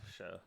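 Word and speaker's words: Shough: Or no, they drafted the Louisville guy, Tyler Show, who oh was yes, like show. Tyler I think it's Show. I never know pronounced how to show.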